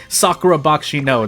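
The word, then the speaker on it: Sakura Bakushin O: I just like using the Japanese pronunciation now. Usually I stick to whatever pronunciation of the language I'm using. So for example, if I say Sakura Bakshino that should have been what I've been saying, but now I I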